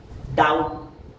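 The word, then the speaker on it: doubt: और नेक्स्ट अगर किसी वर्ड में बी टी के पहले आता है तो वहां भी बी साइलेंट होता है। जैसे कि डे डाउट डेटर ऐसे वर्ड है जो कि वहां पर टी के पहले आया है और बी साइलेंट हो गया।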